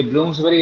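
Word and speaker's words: Bloomsbury: तो आंसर हो गया सी, ब्लूम्स बेरी बोलते हैं इसको, बरी नहीं बोलते हैं ना, प्रोनाउंसिएशन में बेरी हो जाता है, स्पेलिंग बरी लिखा जाता है।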